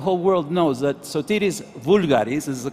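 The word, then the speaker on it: Voulgaris: And also, the reason I came here is to make sure that the whole world knows that Sotiris Vulgaris, is the correct pronunciation, was Greek.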